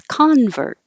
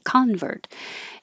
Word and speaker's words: convert: noun and a verb if the stress is on the first syllable it's convert so it's a person who changes their belief convert i'm a convert if it's the verb convert it's the action convert and the noun